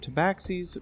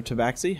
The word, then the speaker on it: Tabaxi: 2 different sects of Tabaxis, with those that have solid spots are called Leopardmen, pronouncing their name as Tabaxi. The other Tabaxi have rosette spots, are called Jaguarmen, and pronounce their name as Tabaxi.